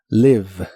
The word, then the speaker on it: need: need que significa necesitar la doble e de esta palabra también se pronuncia como una I larga o doble need need y usaremos el